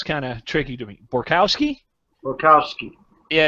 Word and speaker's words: Borkowski: of tricky to me borkowski Bukowski yeah it's tricky because it sounds just like it's spelled so that was you